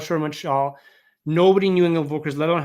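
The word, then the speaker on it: Engel & Völkers: Nobody knew Angle & Volkers, let alone how to pronounce it. Like all the Frenchies of the South Shore was like Angeli Vaugier. Like they couldn't say it.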